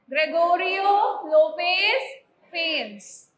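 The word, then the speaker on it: Gregorio López y Fuentes: Pronounce करके दिखाओ। रब रोबो क्या कर रहे हो? नाम है ग्रेगोरियो लोपेस फेंस। क्या नाम है? ग्रेगोरियो लोपेस फेंस।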